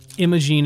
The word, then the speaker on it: Imogene: I didn't realize that Imogene is spelled like, I think it's I-M-O-G-E-N-E.